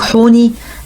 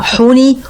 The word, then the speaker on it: حوني: ودلوقتي إن شاء الله هنتكلم عن الملك حوني، آخر ملوك الأسرة الثالثة. الملك حوني آخر ملوك الأسرة الثالثة. بعض الأثريين بينطقوا اسمه حو، يعني البعض بيقراه حوني والبعض بينطقوا حو.